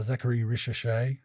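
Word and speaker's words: Zaccharie Risacher: I think um if I had to pick a winner out of those rookie of the year, Zachary Risha, is that how you pronounce it?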